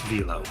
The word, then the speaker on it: Velo: I believe it's Velo. Okay. Velo. But he is another big hitter. I'm gonna call him Velo, like those packs you buy from the gas station.